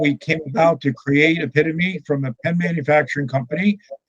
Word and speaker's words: Epitome: And I run the Epitome Pen Company, or like you pronounce it in the States, Epitome Pen Company.